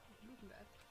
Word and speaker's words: Ludenberg: Ludenberg. It's a German name, so pronounce it German.